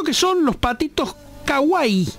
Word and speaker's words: kawaii: compras Lo cierto es que son los patitos kawai Kawaii me lo enseñó pronuncia Juli hace un rato sí sí viste